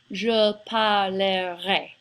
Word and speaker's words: je parlerai: when I said this, I didn't say je parlerai. It really doesn't have 3 syllables, it's closer to just 2 syllables.